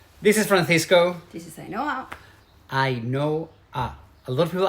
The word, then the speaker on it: Ainhoa: This is Ainhoa. Ainhoa. A lot of people ask us, how do you pronounce her name? Ainhoa. It's like I know her, Ainhoa.